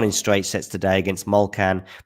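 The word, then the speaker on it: Molčan: straight sets today against mulcan mulkan of course or molchan as uh jg told me it should be pronounced um was a was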